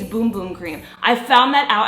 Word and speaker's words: Bum Bum: face did I say bum bum cream by the way it's boom boom cream I found that